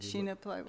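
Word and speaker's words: shina plywood: Sure, this one is, in that Shina, how do you pronounce it? I've only seen it typed. Which? This good carving. Sheena plywood?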